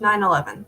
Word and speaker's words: 9/11: 911 911 is pronounced 911 the slash is not a part of the pronunciation pronunciation the name is